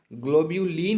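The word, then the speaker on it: globulin: ग्लोबुलिन आपको ये याद करना पड़ेगा, इसकी स्पेलिंग जो है वो याद कर लीजिए, ग्लोब्यूलिन है ये, ठीक है। एक होता है ग्लोबीन, ग्लोबीन एक ये होता है ग्लोबीन, और ये होता है ग्लोब्यूलिन।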